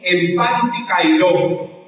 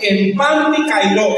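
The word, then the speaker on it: ἐν παντὶ καιρῷ: La palabra se pronuncia algo así, empantikairos. ¿Recuerdan ustedes esas medias que vendían antes? ¿Sí? Las medias panty que usaban las viejitas. Esa es la palabra que se usa, empantikairos, es decir, en todo tiempo usted debe orar.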